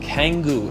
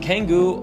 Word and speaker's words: Canggu: Now, number 2 on the list is a place called Canggu, and Canggu, or Canggu, depending on how you want to pronounce it, is definitely one of my most favorite developed areas in Bali.